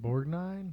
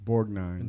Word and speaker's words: Borgnine: ernest how do you say that last name borgnine borgnine don't forget he's also yes in fact that's